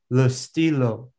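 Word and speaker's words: le stylo: think a pen awesome so in french it's lustilo awesome so what do you guys think listen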